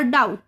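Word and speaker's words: doubt: और डाउट। डाउट में टी के पहले भी आया है तो भी साइलेंट हो गया।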